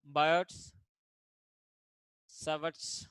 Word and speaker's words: Biot-Savart: Now I am writing here Biot-Savart's law. Actually, Biot-Savart's law, but here it is T is silent.